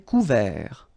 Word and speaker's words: couvert: Un ciel couvert, final T not pronounced.